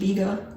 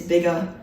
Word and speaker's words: biga: There's poolish and biga. Actually, I looked it up. The American pronunciation is biga. The British pronunciation is apparently biga. I've been saying biga, so apparently I think I'm British, but I'm not.